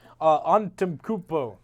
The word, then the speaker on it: Antetokounmpo: I'm Greek and I don't know how to pronounce his last name very well. So, Antetokounmpo.